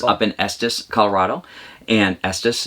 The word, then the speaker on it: Estes: in estes colorado and estes is the bestest that's how we always remember how to pronounce it and up in rocky